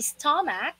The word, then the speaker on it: stomach: Again, it can be stomach or stomach. Mac or mic. Alright? Pero kung hindi isto, it's sto. Parang tunog ng letter U, just like umbrella. Stomach. Alright? That's the correct pronunciation.